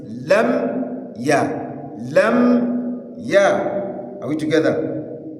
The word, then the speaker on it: لم يكن: Some brothers do change that mimun that is carrying sukun to mimun bil kisra mi, thereby saying lamiya. Aywa, lamiya. This is wrong. The correct pronunciation is lam ya.